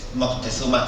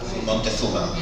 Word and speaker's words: Moctezuma: Es buscarle forzado la Yo creo simplemente Sí, que sí, es una secuencia fonética extraña al castellano, ese Moctezuma, y lo normal es que en el habla popular se convierta en una pronunciación más cómoda, Montezuma.